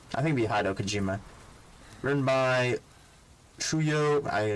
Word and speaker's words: Hideo Kojima: I mispronounced that. Written by Kojima. Hido? I think it'd be Hideo Kojima.